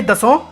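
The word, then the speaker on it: Dassault: France में इस company को डसॉल्ट नहीं बल्कि दसों सही उच्चारण में बोला जाता है।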